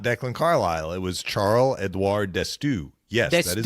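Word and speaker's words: Charle-Édouard D'Astous: It was Charles Edoir Destu.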